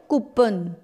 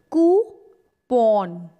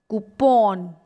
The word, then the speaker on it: coupon: but most of the time we call it kupan but that's wrong the correct pronunciation is ku porn coupon it's coupon i have two free discount coupons